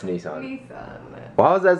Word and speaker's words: Nissan: that's pretty awesome and it's pretty amazing that nasan is sponsoring a video that I'm doing it's